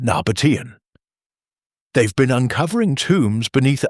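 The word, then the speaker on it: Nabataean: Pronunciation Nabatian.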